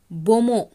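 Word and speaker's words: bon mot: You have to pronounce it as bomo.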